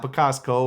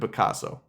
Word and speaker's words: Picasso: It should not be that hard to say David Picasso. It's not Picasso or any of this other stuff. It's David Picasso.